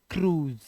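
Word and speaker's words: cruise: तरह से इसे पढ़ते हैं क्रु से नहीं क्रूज क्या पढ़ते हैं य आई जो हमारा जो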